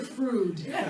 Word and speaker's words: Freud: just a side note, I called him Freud when I was in 8th grade, and I was corrected and so embarrassed.